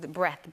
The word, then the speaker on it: breadth: Breadth, with the "D" that's silent. -Mm. Breadth? -Is it breadth? Is that how you say it? -Breadth. -Yeah. -B-R-E-A-D-T-H. -Yeah. That's a good word. -Yeah. 'Cause depth doesn't have the "A." You know, like death, but then depth.